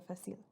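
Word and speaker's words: Facilier: collection this is dr facile i can never say his name when i read it for some reason it just throws me off but it's french so it's dr fasil okay um so i'm excited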